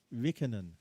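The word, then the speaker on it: Räikkönen: called him Raikkonen, right? But Raikkonen, Kimi Raikkonen. Kimi Yeah. Raikkonen, right? Raikkonen. But Yeah. the Finnish and the Swedes call him Rikkonen.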